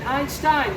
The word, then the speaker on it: Einstein: Einstein, right?